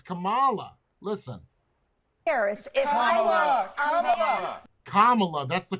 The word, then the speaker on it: Kamala: no he's saying it Kamala it's Kamala listen Kamala that's the correct way to say it she's saying it the way I say it pronounced Queen kamala's name watch this demented see cuz she just said Camala carry on Camala Harris see Camala Harris that's